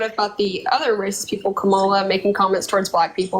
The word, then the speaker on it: Kamala: here and tell Kamala it's Kamala by the way pronounce it excuse me pronounce it right no no you said Kamala it's Kamala Kamala right are you going to